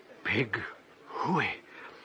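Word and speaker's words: Pig-hoo-o-o-o-ey: The first syllable should be short and staccato. The second long and rising into falsetto. High but true.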